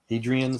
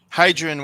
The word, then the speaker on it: Hadrian: newcastle um she's the history buff major here adrian's how you pronounce it yeah hadrian was the emperor in rome when they built